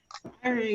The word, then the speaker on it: Ivory: Is that how you pronounce the last name? Ivory? Yeah. Yep, that's it. Ivory.